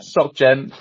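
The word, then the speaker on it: SocGen: I'm going to butcher the name." Um, right. There we go. So, socialeng socken. Sockgen.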